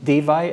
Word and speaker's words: Dewey: and uh Mark Dewey davai actually is how you say it in Germany but he he's okay saying Dewey anytime somebody speaks English